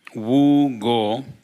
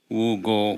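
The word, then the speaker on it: Vu Ngo: I'm going to nominate Wu Go. It's spelled VU, and last name is spelled NGO.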